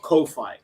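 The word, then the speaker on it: Ko-fi: Yeah, it's called coffee by default, but the way you spell it is KO dash fi. like hi-fi but Kofi.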